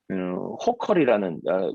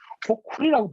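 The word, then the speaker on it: Hochul: 그 부지사가 호컬이라는 캐티 호컬이라는 호쿨이라고 발음하더라고요.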